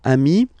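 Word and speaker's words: amis: Remember, if you want to put the plural form, then you just add this final s here. Okay? But then technically, you pronounce it the same way. So, singular form, amii. Plural form, you add this s, but it's amii as well.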